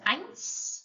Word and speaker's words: eins: And then an example word, eins, number 1. And then it sounds a bit like, this is not perfect, the end bit, but it's close. Eins, just to help you pronounce it.